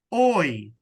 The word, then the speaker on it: hoy: So it says, ¿Qué que quiero hacer hoy. So the H Hoy. is silent.